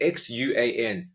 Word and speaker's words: Hsuan: Yeah, then you almost expect it to be a more flat sound than a rounded A type sound.